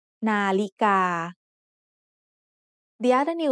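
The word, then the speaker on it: นาฬิกา: Nalika has 3 syllables. The first syllable is made up of Nonu and Sara'a. The second syllable is Lọ Jula and Sara'i. And the third syllable is Gokkai and Sara'a. The tones in the word Nalika are mid-tone, high tone, and mid-tone. Nalika.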